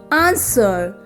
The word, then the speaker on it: answer: w silent w words number one wrestle two wriggle three right four wrong five wrinkle six answer in these words w is silent second column is w